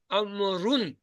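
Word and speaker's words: عمرو: में वा लिखा करते लिखते यह है अमरून पढ़ते अमर है वा को नहीं प्रोनाउंस करते हालत नसबी में अमर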